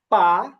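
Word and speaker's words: 八: 8 হবে পা, পা।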